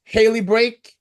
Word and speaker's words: Haley Brake: today we have the girl that stole the show at the Nationals, Haley Brake. Is it how Hello. you pronounce it, correct?